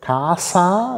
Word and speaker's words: casa: stellen wir folgendes fest Kasa da ist ein einfaches s zwischen Vokalen das wird wenn man richtig Standard italienisch aus Mittel und Süditalien anschaut ja das wird tatsächlich stimmlos aus gesprochen la casasa heißt es